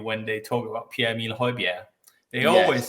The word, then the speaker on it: Højbjerg: to the radio when they talk about Pierre-Emile Højbjerg, they always say, I mean, they get that pronunciation right. They don't say Bjerg or something like that.